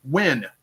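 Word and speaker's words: Nguyen: The last name is pronounced like Win.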